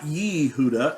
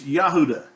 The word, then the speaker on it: Yehuda: Now, not Yehuda, it's Yahuda. It's pronounced the same way.